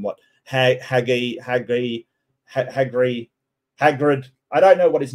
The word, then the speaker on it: Hagrid: ha haggy hag hagri Hagrid I don't know what his name is somebody said that somebody corrected me with thing it's a hard G ha isn't that a isn't G hard I don't know I